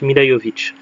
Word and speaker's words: Milla Jovovich: Alors ça s'écrit Milla Jovovich, mais ça se prononce Milla Jovovich.